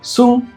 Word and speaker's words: 寸: It's read 寸 in Mandarin or sun in Japanese.